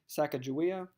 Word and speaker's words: Sacagawea: husband the woman's name people typically say Sacagawea I believe the more the accurate pronunciation is cago Waya but that's tomato tomahto I'm gonna go with